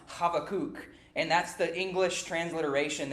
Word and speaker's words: Habakkuk: we do know so his name in Hebrew is actually pronounced havoc and that's the English